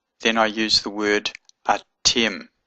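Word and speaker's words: אַתֶּם: I use the word a Tim Aleph TAV mm it's a little seagull here and this dot here means it's a doubling of the litter hard leader Tim so that means you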